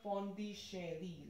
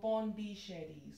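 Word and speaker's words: Pondichéry: come for this question if you pronounce it in the french manner it will be like pondi shari like ch show sound and then the exon so pawn d shady so ponticherry is the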